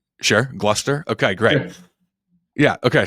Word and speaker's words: Gloucester: Do you work with a sub in Gloucester? Is that how you say it? North Shore? Yeah, you nailed it. Sure. Gloucester?